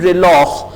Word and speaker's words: reloj: अब देखें खे की आवाज, जे जो है यहां पे खे की आवाज दे रहा है, तो जे की दो आवाजें हैं, एक हे की है जैसा कि हमने कहा हापोनेस, और एक खे की है जैसा कि हमने कहा रिलॉह।